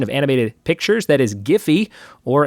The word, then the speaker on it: Giphy: animated pictures that is giphy or as the creator says it's pronounced jiffy which i think is